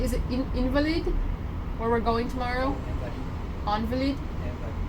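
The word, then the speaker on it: Invalides: How do you say, is it Invalid? Where we're going tomorrow? Invalid? Invalid? Okay. We're going to Invalid tomorrow.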